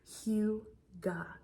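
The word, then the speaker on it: hygge: creating a sense of what is known as Huga and so Huga I'll put the pronunciation on the screen for you guys Hua it is a Danish or Norwegian word um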